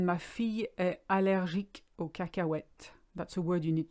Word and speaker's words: cacahuète: It's a funny word, cacahuète. It's quite hard to pronounce. Just ignore the H and you'll be all right.